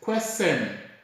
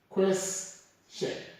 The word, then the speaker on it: question: So this word is not pronounced as question or question, but it's rather pronounced as question. This is how we should pronounce this word.